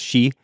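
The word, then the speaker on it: 四: 4 is a really unlucky number in Japan because it can be pronounced shi, which is the same as death.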